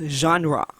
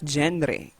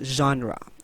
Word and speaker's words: genre: a french word meaning kind or graph we pronounce genre as genre right not gendry all right always remember pronounced as genre or genre the two word or the general